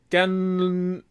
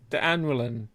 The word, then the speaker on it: D'Annoeulin: From the Brasserie D'Annoeulin. You pronounced it really well at the beginning. D'Annoeulin.